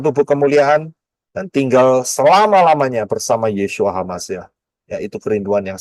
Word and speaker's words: Yeshua: benar yaitu yesua hamasiah Yod Shin wau Ayin yesua bacanya yesua yodsin wau Ayin itu bacanya yesua enggak pernah ada Yin bawa Ayin dibaca Yesus enggak akan pernah ada ya